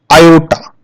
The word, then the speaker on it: iota: It is pronounced as iota.